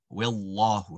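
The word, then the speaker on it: وَاللَّهُ: The exception to that rule occurs in the name of Allah. This is the only time that a lam is going to become awesome, right? So if you take a look here, when you land on it, it's on wallahu, wallahu.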